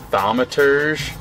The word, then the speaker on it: thaumaturge: Thaumaturge? Oh, man. Okay, could you spell the word, please? Yes. Thaumaturge. I know it's pronounced thaumaturge because I have a pronunciation guide right here.